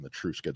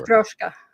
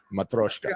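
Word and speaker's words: Matryoshka: I'm saying it wrong. I don't know what the word is in Russian, but they're called Matruska dolls for sure. Matroska. Matroska. That's how you said.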